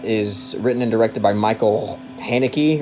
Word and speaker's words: Michael Haneke: written and directed by Michael Haneke, or Michelle Haneke, for the people who care a lot about the correct pronunciation.